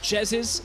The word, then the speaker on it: Jesiz: For the record, Martin, it's pronounced Jesiz, and that's going to be a Gragas going up to the top lane instead.